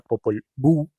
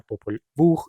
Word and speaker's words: Popol Vuh: son el español, pues la H en el español no tiene sonido, entonces esto se pronunciaría Popol Vuh y ya. Entonces, pues en otros idiomas la H sí tendría el sonido de la J, entonces ahí sí sería Popol Vuh. Entonces básicamente Sam Kolob prefiere W-U-J porque representa mejor el sonido.